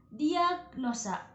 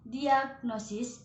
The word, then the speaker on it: diagnosis: dalam pengucapan dan penulisannya kata pertama yaitu diagnosa yang harusnya disebut dengan diagnosis dengan ejaan dibagi2 OSIS diagnosis dan kata kedua yaitu Resiko